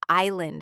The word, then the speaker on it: island: Or think about silent letters in words like island and castle. Why is there an S in island if we don't pronounce it?